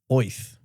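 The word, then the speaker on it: Oerth: oth yes this one I am pronouncing right it is actually pronounced that way oth nonetheless Bugs Bunny has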